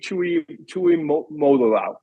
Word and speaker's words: Tuimoloau: JT Tuimoloau.